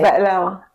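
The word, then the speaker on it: بقلاوة: You say Ba'lawa. Ba'lawa. Because in Arabic the is silent in the Levant accent.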